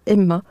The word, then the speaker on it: HEMAA: au nom de l' et sous la bannière Emma puisse s'associer facilement alors je précise ça s'écrit h e M a a voilà voilà